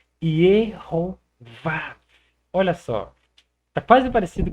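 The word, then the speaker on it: יְהֹוָה: Adicionaram o O, que é o Rolling, e adicionaram o Kametz, que é um outro A. E aqui você tem justamente a pronúncia Yehová.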